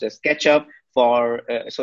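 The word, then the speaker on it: k3sup: alex uh he built uh k3sf which is pronounced as ketchup for so it's basically bootstrapping the k3s cluster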